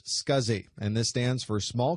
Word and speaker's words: SCSI: Also, if you can think of any other Fast as Possible episodes that you'd like to see, the abbreviation SCSI is pronounced SCSI, and this stands for Small Computer Systems Interface.